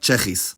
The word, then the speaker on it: Tsjechisch: It's pronounced as a cluster, sch in onset position like schap, and just s in coda position like Czechisch.